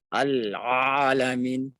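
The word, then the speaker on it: العالمين: Jangan juga terlalu ke bawah. Al-alamin. Cukup di sini. Al-alamin. Bukan juga hamzah. Nah, kalau hamzah lain artinya. Rabbil alamin. Jangan terlalu ke bawah. A. Sehingga lain seperti berat diucapkan. Atau terlalu tipis sehingga menyerupai huruf hamzah.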